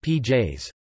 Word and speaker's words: pies: For example, pies, dog, is pronounced pj's.